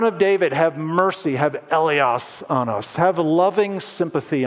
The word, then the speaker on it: eleos: And by far, the most common one is this top word, and that's pronounced eleos.